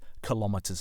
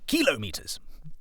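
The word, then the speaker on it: kilometres: really sir no it's kilometers you don't say centimeters or millimeters do you kilometers um so yes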